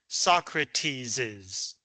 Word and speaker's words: Socrates': You still pronounce it Mars's, Socrates's.